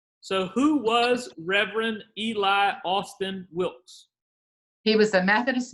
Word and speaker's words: Alston: sending those over so who was reverend eli austin wilkes he was a methodist minister and you know in the southern pronunciation a lot of people spell his name a-u-s-t-i-n but his reverend eli olsen a-l-s-t-o-n wilkes and he was the methodist minister